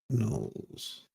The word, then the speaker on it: Knowles: Knowles.